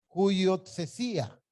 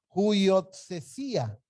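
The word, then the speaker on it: υἱοθεσία: Es esta, y se pronuncia huiotsesía. Voy a repetirla, huiotsesía.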